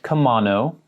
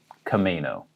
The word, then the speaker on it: Camano: sort of near seattle this is called camano island not komano it looks like it should be but we say kameno emphasis on the may kameno island another town